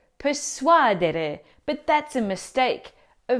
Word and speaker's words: persuadere: well, the correct pronunciation is. Persuadere. Now, the stress in this infinitive verb falls on the second to last syllable, so we say persuadere because it comes from the Latin suadere, to convince.